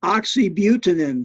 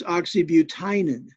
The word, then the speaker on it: oxybutynin: Like this one here that I'm rosuvastatin calcium, or oxybutynin. Some people pronounce this oxybutinin. Doesn't matter. Either one of those is acceptable.